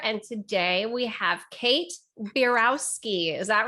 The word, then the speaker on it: Beirowski: the co-host here and today we have Kate bierowski is that right Kate great pronunciation yeah excellent excellent and you're the sales